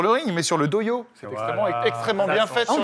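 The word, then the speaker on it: dohyō: Le doyo pour le Doyo. sumo. Ah, parce que c'est écrit J aussi? Non, avec H-Y.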